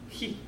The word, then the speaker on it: chi: When I was in Scotland, I taught a class where we used the Greek letter chi, which they don't pronounce chi either, do they? It's pronounced he.